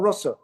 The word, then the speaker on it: ras: So in Sanskrit language, there is a short A and a long A. So the word rasa has a short A, but when Krishna does any lila, it is ras.